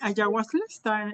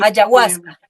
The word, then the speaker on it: ayahuasca: precisamente, sí, ayahuasca, es correcto, así la pronunciación, Sí, este, ayahuasca, sí, o yagé.